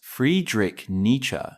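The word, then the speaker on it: Friedrich Nietzsche: The philosopher Friedrich Ner pronounced Friedrich nature explored the concept of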